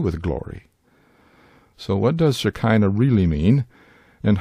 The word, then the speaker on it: Shekinah: So what does shakina really mean and how did it come to be associated with the glory of God? Shikina or Shikina as it may be pronounced is an Aramaic rendering